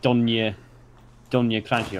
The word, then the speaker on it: Donji Kraji: Donji Kraji. Like, that's so clearly like Donya Kraji or whatever.